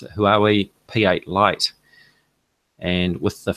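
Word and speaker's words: Huawei: filly new phone and say who are we that's how you pronounce it who are we p8 light and with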